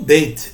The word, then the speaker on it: Bet: A segunda letra é a letra Bet, o Beit, tá? É mais para Beit do que para Bet, né? O jeito que eles falam, tá? Da pronúncia. O Beit, ela tem 2 formas, tá?